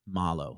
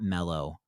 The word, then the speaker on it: marshmallow: experience experiment excuse me malo that's important to me proper pronunciation of marshmallow not mellow um though i will